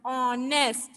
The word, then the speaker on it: honest: One more example I will give you, honest. You remember everybody knows this word honest, right? Yes. We will delete H and we will pronounce from O.